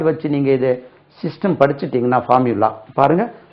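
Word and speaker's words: formulae: படிக்கிறோம்னா ஒரு வேர்ட் வச்சு நீங்க இதை சிஸ்டம் படிச்சிட்டீங்கன்னா ஃபார்முலா பாருங்க ஃபார்முலா f ஆர் எம் யூ l a ஃபார்முலா இதுக்கு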